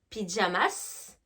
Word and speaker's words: pyjamas: de votre mot d'accord nous par exemple des pyjamas en français on ne prononce pas le s en anglais on va le prononcer pyjamas pas de jamas d'accord n'hésitez pas à